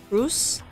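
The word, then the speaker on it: Kroos: you lay down your shadows Mr bro says Cru with open eyes not drawing nightmare fuel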